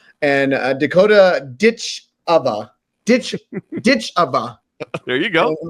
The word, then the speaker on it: Ditcheva: culmination their tournament and Dakota ditch OFA ditch ditch OFA there you go saying it correctly better get